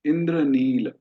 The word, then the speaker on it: इंद्रनील: इसको हम नॉर्मल बोलेंगे इंद्रनील, है ना, इंद्रनील। ल में हमने हलंत लगाया। हिंदी में ठीक है, अपनी अपनी भाषा में ठीक है, पर संस्कृत में उसको पूरा उच्चारण करना है, इंद्रनील।